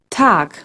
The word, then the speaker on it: Tag: an English good guten except at the end of a word where it sounds more like a ke tag another thing in German